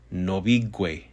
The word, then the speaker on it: nobigwe: But following the word for house, which is nobi, this suffix is pronounced gwe. Hence the word nobigwe, which means in the house.